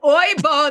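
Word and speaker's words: oyinbo: Well, the local Nigerians, they call you Oyebo. Is that how you pronounce it? So it's Oibo, they would say.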